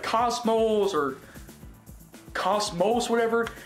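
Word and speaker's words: KOS-MOS: Cosmos?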